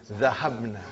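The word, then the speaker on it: ذهبنا: Now, how do you pronounce? Zahabna.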